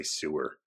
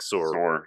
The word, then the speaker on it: sewer: accent Joe's when you try to say sewer oh I don't even know because it comes you put it into one syllable so it's like sore yes or the sword not the sewer no it's a sword